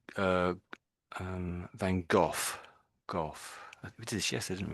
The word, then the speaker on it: Gough: This is an English name, Gough, and that is pronounced just as I'm saying it now, Gough.